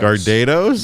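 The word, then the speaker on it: Gardetto's: clip it pronounce uh I pronounce it gardados but some people say gardetta gardettos yeah like people that's a choice yeah I don't even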